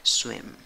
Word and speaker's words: swim: Escribes esta palabra con cuatro letras, pronuncias con cuatro sonidos. Tiene una I, pero una I cortita. No la hagas larga. Swim. Swim. Swim. ¿Ok? Acaba en M. No te comas la N final.